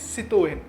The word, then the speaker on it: Citroën: So as it's a French brand, the actual pronunciation is Citroën.